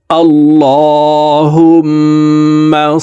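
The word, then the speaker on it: اللهم: শুদ্ধ উচ্চারণ হয়ে যাবে আল্লাহুম্মা আল্লাহ শব্দের আগের হরফে জবর অথবা পেশ হইলে এই লামকে ল অর্থাৎ মোটা করিয়া পড়িতে হয় তো দেখুন এখানে আল্লাহ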